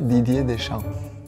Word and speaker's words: Deschamps: Sin la P, sin la S, Didier Deschamps.